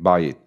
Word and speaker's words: Bajit: It's a debate on safe spaces at Bajit. I think that's how you pronounce it. Yes, I think Bayit. Bayit. It would be the Hebrew pronunciation.